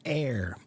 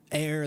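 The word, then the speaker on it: heir: word the word is air the H is not pronounced because uh it's a Latin word originally but it it it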